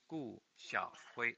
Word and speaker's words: Gu Xiaohui: Gu is spelled G-U. And my first name is Xiaohui, spelled Xiaohui in Chinese pinyin. Gu Xiaohui.